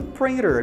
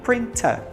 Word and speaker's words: printer: printer no inglês americano printer no inglês britânico printa printa que é a impressora